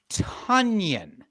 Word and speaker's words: Tonyan: So it's Robert Tonyan. Like Funyun.